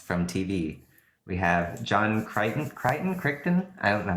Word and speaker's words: Crichton: We have John Crichton? I don't know how to pronounce that. It's Crichton.